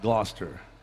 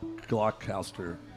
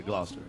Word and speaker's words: Gloucester: that's how it's pronounced gloucester it looks like glock glock caster but it's just you say gloucester yeah yeah thank you